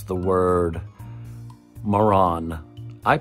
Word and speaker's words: Marans: It's just Maran, and I think that's what trips a lot of people up too. It's the S at the end not being plural, but the same pronunciation whether it's single or plural.